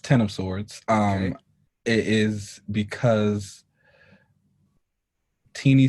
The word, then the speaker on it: X of Swords: is it x of sorts so it's it's pronounced ten of swords um it is because teenie said that you